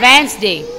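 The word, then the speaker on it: Wednesday: वाई डी ए वाई वेनसडे वेनसडे वेनसडे बेटा बताया जाता है डी लिखने में आता है बोलने में साइलेंट हो जाता है ठीक है तो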